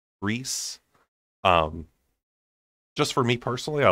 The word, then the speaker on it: Rysand: So Rysand, or Rise, as I call it, looks like he is more of a Rysand, Reese.